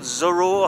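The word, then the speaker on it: Żuraw: the crane which is called zorro i think i think that's how you pronounce it spelled z-u-r-a-w it used to be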